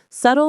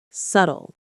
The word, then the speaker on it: subtle: Subtle means not obvious, loud, or direct. It's clever and indirect. The B is silent. Subtle. Subtle.